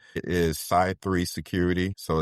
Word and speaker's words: Cy3: It is SY3 security. So, that's spelled C Y and then the number three security. SAI being short for cyber.